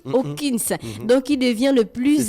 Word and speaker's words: Hopkins: a un auditeur qui a dit qu'on ne prononce pas le P. On dit Hawkins. C'est lui qui a fait l'anglais, là, le diplôme dedans. Bonjour le grand. Anthony Hopkins. Donc on ne prononce pas le P. Hopkins.